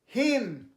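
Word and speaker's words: hymn: এটার পরেরটা HYM এনটা যদি উচ্চারণ হয় কী হবে? হিম।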